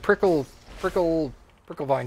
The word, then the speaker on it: Prickle vine: I still need prickle vine juice. That's how you pronounce it, actually. Prickle vine. Just make it sound like you don't know what you're saying. It's real easy.